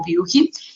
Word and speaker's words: Buchi: La compañía, ser suiza, de la parte alemana, la pronunciación es un tanto alemana y realmente el nombre de nuestra empresa se pronuncia como Bucci.